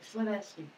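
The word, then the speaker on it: Llanelli: So Llanelly is Clinesley.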